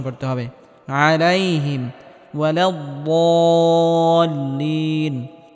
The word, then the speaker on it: الضالين: আলাইহিম ওয়ালাদ-দাল্লিন, এখানে বদটিকে মোটা করে উচ্চারণ করতে হবে এবং হালকা আওয়াজ জারি রেখে উচ্চারণ করতে হবে।